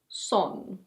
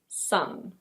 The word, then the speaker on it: son: And while we're on the topic of families, this word is: son. It's not "sohn". It's: son. It's pronounced exactly the same way as the ball of light in the sky.